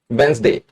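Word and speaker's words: Wednesday: वेडनेसडे को बुधवार को, वेंसडे, यहां डी साइलेंट होता है ₹50 उसने सोमवार को बचत की, ₹100 उसने बुधवार को बचत की और ₹80 की उसने शुक्रवार को बचत की।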